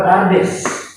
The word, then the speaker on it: Pardes: Ya, ini bacanya adalah Pardes.